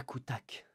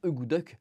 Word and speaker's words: akutaq: votre table bien évidemment c'est la coutach la fameuse gourmandise préférée des 6 8 qui se prononce d'ailleurs normalement good luck mais que j'adore prononcé coutach parce que je suis un français débiles qui aiment prononcé mal les choses qui voilà c'est